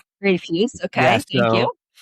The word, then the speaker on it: Rafuse: Yeah, I mean, it'd be pronounced Refuse, but Refuse, okay.